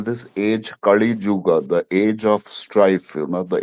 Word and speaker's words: Kali Yuga: Like, no, it is not Caligula. It is Kalyuj. I'm going to write it here. Kali Yuga.